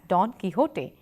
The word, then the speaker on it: Don Quixote: learn us from here we will pronounce don't fix it as Don Quixote as the first translation